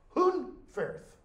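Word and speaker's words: Hunferth: every time he's mentioned it is spelled h-u-n-f-e-r-f Hoon Firth every time okay yet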